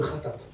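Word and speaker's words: חטאת: Vous savez, le péché en hébreu se dit le khatat. Ça se dit comme ça. Khatat.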